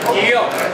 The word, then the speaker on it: Geale: Geale.